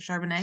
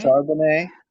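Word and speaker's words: Charbonnet: how to say it shanet shanet okay just making sure we're saying it the French way um Hey listen ever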